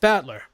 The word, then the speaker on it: Battler: Uh, so far the problem is my given name uh is made up of the characters for fight and person and it's pronounced battler.